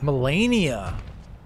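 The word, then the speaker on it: Malenia: Melania!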